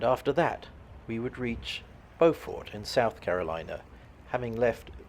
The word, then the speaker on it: Beaufort: We are in Beaufort, South Carolina, which the locals apparently pronounce as Beaufort.